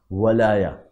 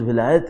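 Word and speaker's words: ولایة: میں نے عرض کیا قرآن کریم میں دو جگہ جو خود ولایہ کا لفظ آیا وہ واو پر زبر کے ساتھ آیا، ولایا. چونکہ اردو میں تلفظ ولایت ہے اس لیے میں اس کو ولایت عرض کر رہا ہوں، ورنہ ولایا آیا ہے عربی کے اندر.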